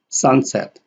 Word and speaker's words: sunset: Sunset, this is a primary, and set here is secondary.